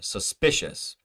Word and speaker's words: suspicious: Innocent or suspicious. Suspicious, suspicious, innocent. Well, we know innocent is the first syllable, innocent. Suspicious is the spicious, p. The I in there, the I vowel sound is stressed.